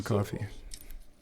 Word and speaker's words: Coffey: John Coffey. Like to drink. Only not spelled the same.